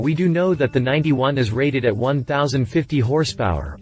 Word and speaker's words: 91: first production model the ff-91 pronounced 9 1 not 91.